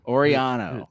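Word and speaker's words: Orellano: wrong or or or orano is that how you say it I think it's orano orano two L's so y orano yeah uh somebody came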